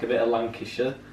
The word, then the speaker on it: Lancashire: like a bit a Lancashire I'll do my how it's pronounced like a shire well I like it